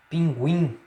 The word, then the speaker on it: pinguim: Você percebe quando você diz guan, existe aí a relação aí de sincronia entre a pronúncia oral e a pronúncia nasal. Outro exemplo, pinguim, tá?